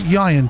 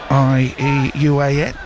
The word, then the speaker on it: Ieuan: Turner's come up for the youth team, so it's Ian Turner. Is that the right way to say it? Yeah. Ieuan. Yep. Celtic pronunciation.